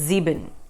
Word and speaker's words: sieben: But the Germans pronounce S as a Z. So 7 in German is sieben.